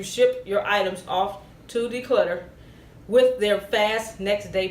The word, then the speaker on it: Decluttr: I'll spell it DECLUTTR. No E. Declutter. DECLUTTR.